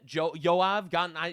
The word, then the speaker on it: Joab: Yoav he's pronounced Yoav in Hebrew. That's how I know how to pronounce him.